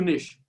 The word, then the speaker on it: niche: the second last point how clear is your niche this rhymes with rich you've got to find